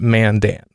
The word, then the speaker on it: Mandan: and Saturday then a gig came up in Mandan North Dakota which is near Bismarck and I say that because there's no way you knew where mantan was and he has it's pronounced Mandan it was the first question I had when